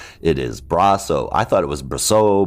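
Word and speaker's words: Brosseau: been corrected by him twice for saying his name wrong it is braso I thought it was bro bro I mean I've pronounced it a bunch of different ways and finally he yelled at me so it's braso the story starts out at the end and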